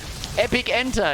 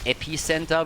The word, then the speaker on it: Epic Enter: They call it Epicenter, which is obviously bullshit, because Nubarok wants to epically enter the backline, so Epic Enter is how you correctly pronounce that particular talent.